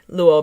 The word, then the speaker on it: Luo: leo chingae will beat luo bingham wait they're slightly similar sounding but i keep mixing up the pronunciation it's more of a w sound in the wha these two characters definitely